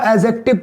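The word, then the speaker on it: adjective: हम नहीं करेंगे दोस्तों जैसे ये शब्द लिखा होता है adjctiv इसको हम एडजेक्टिव पढ़ते हैं दोस्तों क्या पढ़ेंगे एडजेक्टिव पढ़ेंगे ना की एडजेक्टिव दिमाग में जो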